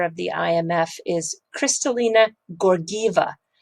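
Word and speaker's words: Georgieva: the imf is crystalina gorgiva two hard g's like google not george eva but gorgiva anyway we should do a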